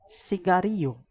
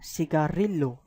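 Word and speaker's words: cigarrillo: as C for example C carry you this is not cigarillo this is C carry you because the Double L is an alphabet pronounced as ie so this gives the pronunciation siga Ryu that means cigarette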